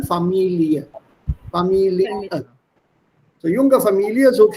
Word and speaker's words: Familie: Also am Ende, wenn es ein IE steht, vor allem mit diesem Wort und solche geliehene Fremdwörter, da spricht man die Endung als IE aus, also Familie. So junge Familie. I'm exaggerating it, but you don't say family, da sagt man dann Familie.